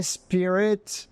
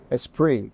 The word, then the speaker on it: Esprit: was that in America nobody knew how to pronounce it so for years it was sprit a sprit a spirit you know all kinds of things like this